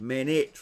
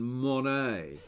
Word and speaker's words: Manet: mistake was common but it's actually Edouard Manet I think mehnat rather than money sees me who's never